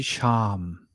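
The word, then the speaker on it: שם: It shouldn't be Shem, it should be Sham. Remember, Paleo Hebrew, the Aleph is supposed to be pronounced as the release of the breath.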